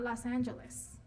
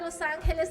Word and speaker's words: Los Angeles: First of all, it's not Los Angeles. It is. No, you misinformed people. It's Nuestra Señora, la Reina de Los Ángeles de Porciúncula. And you better not forget the accent on the uncula.